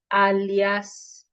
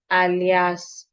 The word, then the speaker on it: alias: Not alias. You know when you're saying your name and you need to add another name. So you hear people say my name is Bua Alias Mun something like that. It's not alias it's alias. Alias. So it's alias.